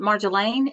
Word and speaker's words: Marjolaine: Okay, now, is it Marjolaine? Is that how you say it? Yes.